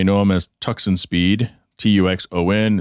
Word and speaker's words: Tuxon: You may know him as Tuxon Speed, Tuxon. It's spelled purposely like that.